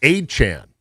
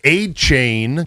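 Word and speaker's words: Achane: Same thing for Devon Achan. Yeah. We were calling him a chain cuz there's an e at the end for a year and a half and he's like actually it's achan.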